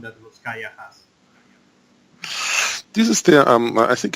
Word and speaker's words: Russkaja: You say Russkaja or Russkaja, pero nosotros en Austria decimos Russkaja. Oh, that's good to know. Russkaja, yeah, sí. But it's not that international pronunciation. It's from the German language. You know, we divide the words Rus, ska, and ja, and ja means yes or si.